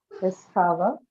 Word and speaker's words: discover: verb, so on second syllable. Okay, discover, so the second one is stressed.